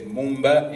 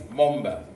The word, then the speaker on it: Moomba: I don't know why everybody says Mumba, it's Momba. Momba. It's Momba.